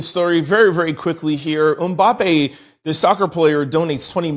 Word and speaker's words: Mbappé: I Googled it and this is what it said. So, Mbappe, but y'all know I'm dyslexic, so excuse me if I'm pronouncing it wrong.